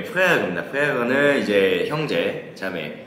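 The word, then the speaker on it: Frère: 프랑스어 발음이 아주 멋지십니다. 아, 네. 다들 뭐라 불러요? 이거 그로페레레라고 그로페레레. 그러죠? 네, 프레어입니다.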